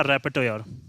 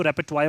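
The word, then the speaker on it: repertoire: था हमारा बुलवर्क और तीसरा वर्ड था हमारा रेपेटोयर या रेपेटवायर जिसको बोल सकते हैं हम लोग। इसकी स्पेलिंग TOIRE होती है, लेकिन इसको रेपेटवायर बोलते हैं।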